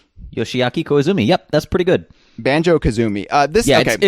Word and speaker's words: Koizumi: Reading Japanese it's sort of like Spanish. When it's translated into Western characters, you can basically they don't have different pronunciations for their vowels, so you can kind of, as long as you know what an O is and what an I is, you can just read it out.